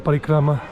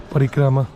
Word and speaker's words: Parikrama: And if you want to do the Parikrama, I mean, that's the way most people pronounce it. Parikrama. Some people might say Parikram.